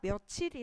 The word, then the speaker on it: 며칠: 일로 소리 하지 않잖아요 실제 발음은 우리가 며칠이 라는 점에서 10 우리가 표기를 며칠 이라고 이렇게 해버리면 표준어 인 며칠